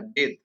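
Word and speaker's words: bathe: बेथ, ये जो verb है इसको उच्चारण होता है बेथ, और इसका जो नाउन है होता है वो बाथ होता है।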